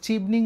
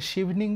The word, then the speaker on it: Chevening: নানান ধরনের স্কলারশিপ আছে, তবে আমি যে স্কলারশিপটা নিয়ে এখানে এসেছি সেটা হচ্ছে, এটাকে অনেকে চিভনিং বলে, অনেকে শিভনিং বলে। যেহেতু সিএইচ দিয়ে শুরু, তো চিভনিং probably the right pronunciation, but আসলে আমার কাছে মনে হয় কোনো ম্যাটার করে না।